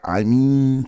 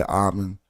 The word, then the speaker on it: Amen: So some say I mean, some say Amen. Amen is really going off how Budge translated it.